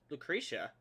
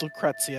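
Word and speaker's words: Lucrecia: I think it's pronounced Lucrezia, actually. Lucrezia.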